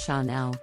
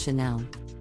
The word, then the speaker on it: Chanel: and high-end leather goods Chanel is another French luxury fashion brand that is often mispronounced some people pronounce it as Chanel but the correct pronunciation is Chanel the brand was founded by Coco Chanel and is known for